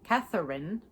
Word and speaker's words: Catherine: So say with Catherine, I like to say Catherine, since that middle syllable is there.